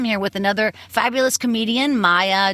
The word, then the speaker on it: Maija: think that yes often I always get either Maja or ma ma or they just look at me strange that's what probably led me to Comedy was getting my name wrong my entire childhood yeah just your name that's amazing now I looked it up the name Maya even though it looks m a i j a the name Maya is